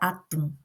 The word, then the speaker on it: atum: Então, por exemplo, a palavra atum. Atum. Eu coloquei mais força no tum, que é a nossa última sílaba.